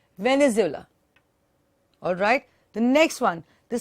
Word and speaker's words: Venezuela: with the vanilla okay venez illa how you pronounce it is Venezuela alright the next one